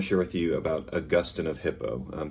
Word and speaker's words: Augustine: share with you about augustine of hippo some will say augustine like saint augustine in florida named after him but most theologians would pronounce his name augustine so um augustin augustine but born 354 died in